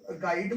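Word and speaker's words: guide: ठीक है, इसमें भी यू साइलेंट कर दिया गया तो इसको गाइड पढ़ा जाएगा। इसमें यू को साइलेंट कर दिया गया तो इसको गिल्ट पढ़ा जाएगा।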